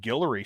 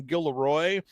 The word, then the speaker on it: Gillery: And I believe I'm pronouncing his name correctly because I looked up the pronunciation guide and Brent keeps calling him Gilloy and if I'm Courtland